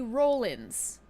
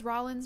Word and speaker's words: Rollins: this was Roland's when this is rolling rolling I refuse to believe that y'all are Rawling down the hill babe okay we're not Rawling down the hill someone tried to say I was pronouncing it like this that's rolling she we have one of those she sucks do I know it's Rollins now yes do I still